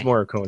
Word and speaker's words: Morricone: Oh, how you pronounce it? Yeah. Fred? No, but it's Morricone. It's Morricone. It is Morricone.